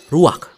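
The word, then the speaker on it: רוח: Kata dalam bahasa Ibraninya adalah ruach. Ruak? Ya, benar. Tenggorokan kita harus benar-benar bersih di akhir pengucapan.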